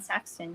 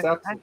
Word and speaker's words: Saxon: Yeah, Saxon. I can't. Yeah. Ooh, I was saying his Yeah. name wrong. I kept adding a T to it. It's John Saxon.